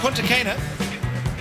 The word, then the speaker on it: Punta Cana: It's Cana as in Cana beer. Thank you, Angry B. See, he made it relevant to what I'd understand. A Cana beer.